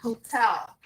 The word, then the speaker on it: hotel: Nessa palavra, a gente vai pronunciar a primeira letra com esse som. Ok? Hotel. E a sílaba tônica é na segunda sílaba, na última, não na primeira.